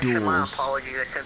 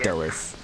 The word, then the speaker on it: Dulles: It's not duels. It's Dulles.